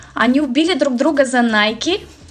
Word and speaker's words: Nike: бренду очень интересно как вы прочитаете это не nike это nike вот лайза хвастаться своими новыми apple watch выманила булочки глаз и смотрим на пример модели nike nike они убили друг друга за nike а теперь 6 бренд ralph lauren как только